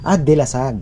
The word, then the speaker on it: Dilasag: Ano ba pronunciation? Dilasag o Dilasag po. Dilasag.